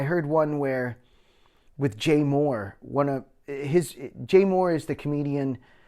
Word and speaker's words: Mohr: And I heard one where with Jay Moore.